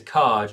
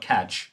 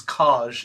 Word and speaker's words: KAJ: It's kaj, not caj. Yeah. And then you pronounce it.